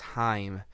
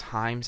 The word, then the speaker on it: Haim: And on the song So Bad, featuring, I believe it's pronounced Haim, this risk does not pay off whatsoever.